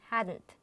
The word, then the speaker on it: hadn't: short form of the head not and we pronounce it hadn't which is which schwa sound in between regarding